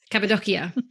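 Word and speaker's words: Cappadocia: so now that makes me so fascinated with Capia did I say it right yes kabad doia because of quite extreme Continental volcanic Tower this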